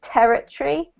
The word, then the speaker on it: territory: incorrect, but we generally, native speakers kind of squash it up, so we end up with territory. Territory. Territory. Yeah. So rather than emphasizing every single syllable, we squish up the last part so it becomes like tree, territory.